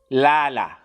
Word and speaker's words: lala: then we have um lala lala means sleep lala means sleep and how you pronounce it it's la la you can add h to make it you know a little bit um i don't know